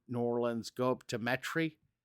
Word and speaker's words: Metairie: That's how the locals call it, Metry. Gotta put that southern inflection on it. Yeah, if you look at it if you look at it how it's spelled, it's Metairie, but Metry.